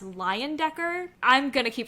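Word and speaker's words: Leyendecker: is although okay so apparently his last name is pronounced lion Decker I'm gonna keep saying Lane Decker because that just goes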